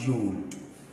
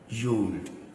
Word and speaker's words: Yod: Then we have yod. Yod. So this is a Y sound. Yod.